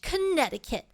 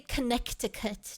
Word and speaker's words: Connecticut: I can't wait for some delicious slop in Norwich, Connecticut. How come you don't say Connecticut, chat? You say Connecticut. The C is silent.